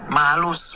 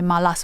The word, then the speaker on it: malus: And this is only for Bugun's pronunciation because some other areas Bununs might say malas bunun. We use malus more than malas.